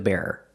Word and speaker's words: bearer: Not the bear, but the bearer.